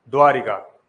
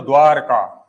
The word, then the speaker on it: द्वारका: तो हम शायद इसको ऐसे बोलते हैं क्या? द्वारिका। लिखने में ऐसा आता है। लेकिन द्वारका अशुद्ध है। अगर इसको शुद्ध रूप से बोलेंगे तो द्वारका क्या बोलेंगे? द्वारका।